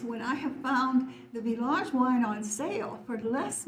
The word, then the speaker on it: Villages: Village and of course you don't pronounce the S at the end of a word in French the wines from a